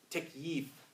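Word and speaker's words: تكييف: Takyif. Takyif. If you wanted to spell it in English letters, you say T-A-K-Y-E-E-F.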